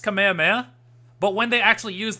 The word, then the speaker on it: Kamehameha: I understand I understand Kamehameha sounds dumb because it's a Hawaiian it's a Hawaiian name uh it's based off a Hawaiian word of some sort so that's why it's pronounced Kamehameha um I I don't know